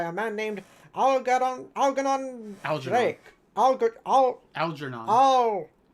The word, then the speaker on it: Algernon: Algernon. Al. It's a soft G.